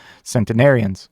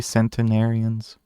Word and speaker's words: centenarians: has the Trump Administration said about payments to cenarius am I pronouncing that right Century centenarians why they have to say that it's such